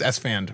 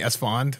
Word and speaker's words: Esfand: like some people like my name is s fan right some people call me s fond they say it wrong but like yeah that's